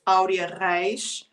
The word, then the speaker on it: Aurea Reis: and it's spelled it's when you read the name is Arya rice so I'm actually looking